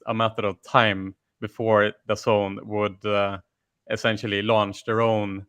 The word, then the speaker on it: DAZN: within the zone, or aka Dazn, that I thought that it was called for a year, DAZN basically, and but it's pronounced the zone, and you were the